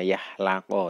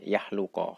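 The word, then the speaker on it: yakhluqu: Tadi ada ralat saya tadi membaca yahlaqo ya, dari sebenarnya yahluqo, kholaqo yahluqu. Jadi ikut bacanya yafulu.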